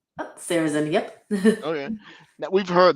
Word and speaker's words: Sarahzin: Sarahzin, yep.